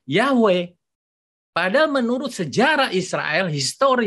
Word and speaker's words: Yahweh: mereka bilang youtuve itu yhwh itu dibacanya yaweh pada menurut sejarah Israel